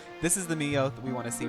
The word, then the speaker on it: Meowth: Yes, Meowth. Rhymes with growth.